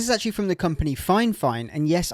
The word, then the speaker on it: Fifine: Now this is actually from the company Finefine. And yes, I know it's spelled Fifine, but it is pronounced fine fine.